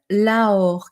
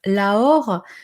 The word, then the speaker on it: Aor: notre parcours, d'évolution vers, ce qu'on appelle l'Aor, qui s'écrit A-U-R. L'Aor, c'est l'or, la matière OR, hein, l'or alchimique.